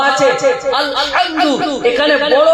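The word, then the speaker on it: الحمد: একটা গলা থেকে উচ্চারণ কর হা এটা হলো বড় হা আরেকটা হা এটা হলো ছোট হা আরবিতে দুটো হা আছে আলহামদু এখানে বড় হা আছে যদি কোন মুসলমান পড়ে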